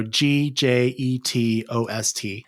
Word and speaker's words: Gjetost: To spell Gjetost, I have to say it as I spell it. So it's J-Jet Ost, so Gjetost.